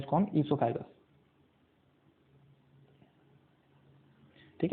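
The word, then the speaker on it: oesophagus: ओ silent होता है इसके अंदर, क्या बोलते हैं इसको हम? ईसोफेगस, ठीक है।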